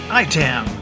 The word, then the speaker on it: ITAM: sponsor this week is IAI t a.m. dot org pronounced item dot org this is the only